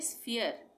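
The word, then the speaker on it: sphere: उसके बाद यहाँ पे स्फीयर, स्फीयर, ये रहा स्फीयर, पी एच आ गया, स्फीयर, फ का उच्चारण हो गया।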